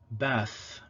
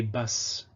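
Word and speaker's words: בת: Tav also has a fricative allophone, th. So we have these two examples at the beginning, Torah, Torah, and at the end, bath, bath. Okay, the fricative pronunciation doesn't exist in modern Hebrew, though the Ashkenazi tradition, as far as I know, has retained it, so they would say bas. But Tiberian is Torah and bath.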